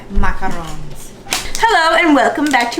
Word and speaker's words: macaron: We're going to be testing our baking skills and trying to make macaroons. Are you sure that's how you say it? Macaron.